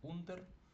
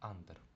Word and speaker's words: under: Читаємо не як унр, а як under, бо починається з букви оцієї у.